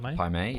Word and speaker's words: Pai Mei: Pai Mei, yeah.